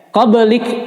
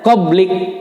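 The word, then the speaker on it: قبلك: Qablik adalah ba ini huruf ba ini adalah huruf qalqalah, berarti dipantulkan. Nah, jangan sampai ini enggak, kadang-kadang kalau ada yang membaca qablik itu tidak tepat. Qab karena huruf ba pantulannya adalah b, bukan bo. Kalau tadi qaf o ya. Ini bunyinya e. Qab min qablik. Nah, hamasnya. Min qablik, bukan liko ya, karena jadi salah huruf ya.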